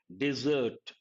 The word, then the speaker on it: dessert: Dessert. How do you pronounce this? E sound. Remember, it goes with eating. E. Dessert. And this one is desert.